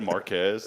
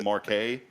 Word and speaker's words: Marquez: You know how many times I've said Marquez and it's Marquay? It's Marquay.